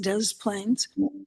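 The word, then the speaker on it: Des Plaines: up in Italian style and it's on the Dez Plains River. That's how it's pronounced Dez Plains.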